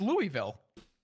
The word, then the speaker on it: Louisville: No, it's Louisville. I know that's what I said. It should be. Oh, it's just a fucking completely silent S. Yeah, Louisville.